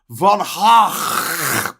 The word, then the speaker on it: Van Gogh: Van Gogh should be pronounced Von Gogh.